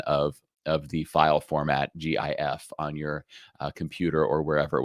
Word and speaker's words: GIF: this one which says it's pronounced gif with a hard g like gift or you might select this one which i believe to be the wrong one which says it's select it's pronounced jiff with a soft g